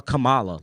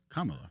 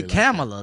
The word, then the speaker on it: Kamala: They call her Kamala, like the wrestler. Hey, I see everybody struggling. I always remember Kamala. Kamala.